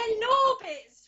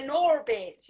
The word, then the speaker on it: Gnorbits: they're Norbits for a start. You don't pronounce the G. It's a silent G because Okay, they're from the West Country, so they're Norbits.